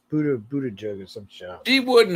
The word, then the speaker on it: Buttigieg: Yeah, but no one can pronounce his name. Yeah. Well, I always call him Butterbud, but it's Buttigieg or some shit.